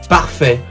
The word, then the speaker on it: parfait: Oh, parfait. I don't know if it's pronounced like that because parfait is a French word. It's pronounced parfait.